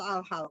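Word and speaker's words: الحل: Tadi bacanya tadi al-hil atau al-hal? Kedengaran hil. Al-hil saja. Masa kalau hil nggak jadi tolak dong. Al-hal. Al-halu.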